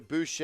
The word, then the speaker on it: Boucher: As Siakam kicks it to Boucher.